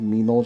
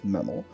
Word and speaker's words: Memel: right claims meml I I think this is pronounced meml I almost always call it miml just because I think that's funny but it is what